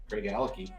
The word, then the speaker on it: Glenallachie: Glenallachie.